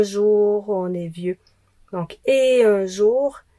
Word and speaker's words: et: Donc, et un jour, le et, c'est une liaison interdite, on prononce jamais le t, mais si c'est suivi